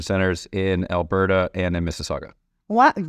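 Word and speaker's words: Mississauga: in Alberta and in Missaga. Wow. And you said it right. Not a lot of people get saga right.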